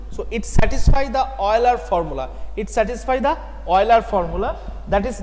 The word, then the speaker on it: Euler: So it satisfies the Euler formula. That is not Euler's, you can pronounce, not that is Euler's, that is Euler.